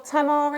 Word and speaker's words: tamari: Is it tamari or tamari? How do you pronounce that? Tamari.